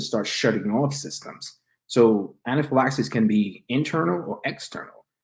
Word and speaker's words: anaphylaxis: find the concept of anaphylaxis I might be pronouncing that wrong no no anaphylaxis is correct you know it's anaphylactical